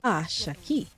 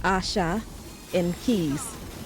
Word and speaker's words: Ashaki: For people who don't know, it's actually pronounced a key. Like Asha in keys, you know, like Asha stole your keys.